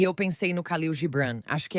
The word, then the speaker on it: Gibran: E eu pensei no Khalil Gibran, acho que é assim que se pronuncia.